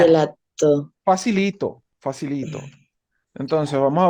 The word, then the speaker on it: gelato: Fíjense, la G con la E suena Y. Entonces, por eso esta palabra, ¿cómo suena? Todos la saben pronunciar, estoy seguro. Gelato. Gelato.